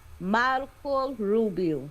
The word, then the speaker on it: Marco Rubio: I will tell you how to pronounce it. Marco Rubio.